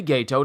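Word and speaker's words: Geto: the curse user gato and i say gaeto not ghetto because that's how they pronounce his name in the dub was led by the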